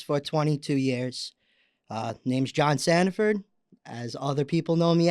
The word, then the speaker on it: Sandiford: Yeah, Sandiford.